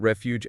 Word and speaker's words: refuge: And we can't forget refuge and overlook. Two words that could be challenging because of the stress patterns. Refuge has the emphasis on the first syllable reh fight while overlook has the